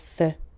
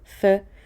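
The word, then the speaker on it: phở: And of course, their namesake, Pho, which is pronounced Pho, not Pho.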